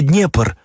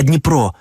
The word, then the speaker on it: Дніпро: назви згідно з цим не Київ а Київ не Харков а Харків не Днепр а Дніпро не Донбас а Донбас і нарешті Одеса може